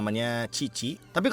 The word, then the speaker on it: Cici: she'll call herself as Sisi ya. So if it's me from a Caster's prespective ya C if it's on English would be pronounced as "Si" right? So it became Sisi, but I don't know deh